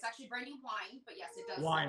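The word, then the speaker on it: Brandi Wyne: Brandy, it's actually Brandy Wine, but yes, it does. Wine. It's pronounced. It's okay. It looks like it's I'm pronounced sorry. Brandy Wynn, and it is said that way 90% of the time.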